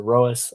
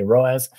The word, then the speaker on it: ROAS: here in the EU I pronounce it Rose I noticed that most of my most of my fellow Americans say roas yeah uh but the